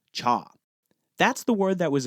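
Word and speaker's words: 茶: The people of these regions spoke the Cantonese dialect, which pronounces the word for tea as cha.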